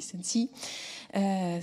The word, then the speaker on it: Sensee: Alors pour ceux qui ne connaissent pas encore Sensi, Sensi ça s'écrit S-E-N-S-E-E et ça se dit Sensi.